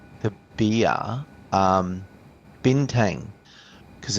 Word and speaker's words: Bintang: means bintang b whatever you it's bintang yeah it's bintang okay I don't